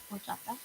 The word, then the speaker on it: horchata: It's a horchata. Okay, if you know what a horchata is, you know what a horchata is. If you don't, it is a HOR. The H is silent.